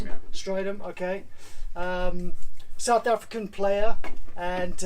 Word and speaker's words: Strydom: This is Strydom, is that how you pronounce it? Yeah. Strydom, okay.